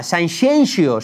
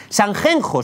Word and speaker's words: Sanxenxo: O Sanxenxo, la Marbella gallega, que se pronuncia Sanxenxo si votas a Ciudadanos, Sanjenjo si votas al PP y San Ginés si votas a la Falange.